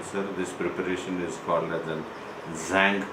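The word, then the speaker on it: Tzanck: preparation is for nothing zank preparation the T is silent the shank preparation and under this wing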